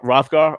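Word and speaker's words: Hrothgar: Rothgar. Okay, Yeah. is of H course is silent.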